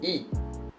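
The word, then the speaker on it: 亿: okay 100 million and in pinging it is why I with the fourth tone it is e 100 million how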